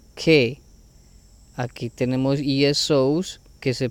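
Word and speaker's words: καί: Kai, que se pronuncia que.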